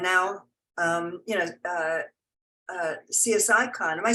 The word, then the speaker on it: CSICon: it right and now um you know uh CS icon am I saying that or do you call it Cyclone I guess most people pronounce it okay so cyclon is another step